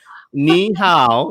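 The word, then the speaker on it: 你好: Ni hao is how are you doing? Did I say it right? Ni hao.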